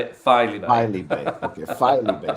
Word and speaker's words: Filey Bay: So that's how you say it, Filey Bay.